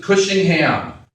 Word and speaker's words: Cushingham: And they said, well, in New York City, we pronounce it Cushingham.